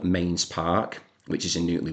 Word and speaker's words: Mesnes: at a place called Mains Park, which is in Woolly Willow's and that is Mains spelt m e s n e s. Mesnes is how it's spelt, but it is pronounced Mains.